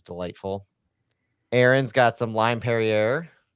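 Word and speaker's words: Perrier: I think you pronounce it Perier in in the champagne version, too.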